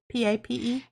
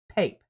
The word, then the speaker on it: Pape: The University of Chicago's Robert Pape. I don't know how you say it. I would say PA because it has an E.